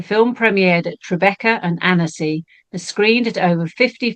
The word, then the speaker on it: Annecy: I just thought, I thought I should have checked how that's pronounced. It is Annecy.